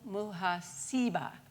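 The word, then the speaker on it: محاسبة: a practice practice and it's called mu muha siba you siba third syllable muha siba and it is the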